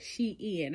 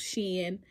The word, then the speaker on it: SHEIN: it was print out Shin I've been pronouncing it Shin okay my dolly sis said uh on Cena it's called she in like she and then in like she and girl she in I was like oh